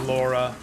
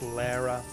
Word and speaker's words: Lara: got the debut of emo Laura Lara it's officially pronounced Lara oh they took my